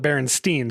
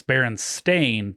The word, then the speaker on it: Berenstain: It was Stein, but I called it Berenstein, so I was wrong to begin with. Well, but your pronunciation is Steen or Stein, same spelling. Right. But it's Berenstain, different spelling altogether.